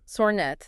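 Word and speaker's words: Sornette: Sornet, that's pronounced Sornet, is a physicist at ETH Zurich.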